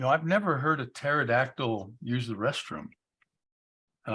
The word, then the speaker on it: pterodactyl: I've never heard a pterodactyl use the restroom and I'm guessing that's because the p is silent oh have we had